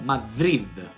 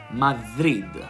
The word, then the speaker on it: Madrid: la città di madrid in spagna non si pronunci a madrid ma si pronuncia madrid madrid e dello stesso suono di o come in